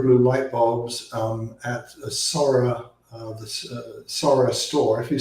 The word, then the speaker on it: Soraa: In terms of the light bulbs, you can get zero blue light bulbs at a Sora, the Sora store. If you search for Sora Zero Blue, and Sora is spelled SORAA, you can find light bulbs today that are zero blue light bulbs.